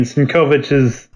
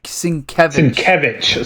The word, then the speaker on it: Sienkiewicz: And it's cutting back between Sinkovich's. I'm pretty sure I'm always pronouncing that wrong. Is it Sinkovich? No, Sienkiewicz. Sienkiewicz.